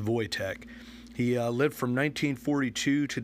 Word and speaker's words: Wojtek: It's spelled W-O-J-T-E-K, but it is pronounced Wojtek.